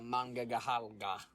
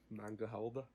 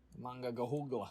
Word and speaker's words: Monongahela: Allegheny and the Monongahela. Mangahalda? Monongahela.